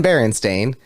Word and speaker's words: Berenstain: on to say no we've always been berenstain this has been going on s-t-a-i-n like staying on your couch instead of and that's